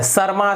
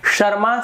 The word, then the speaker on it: शर्मा: शर्मा, शर्मा, शर्मा, ये गलत है, शर्मा सर, ये गलत हो गया, शर्मा सर, ये सही होगा।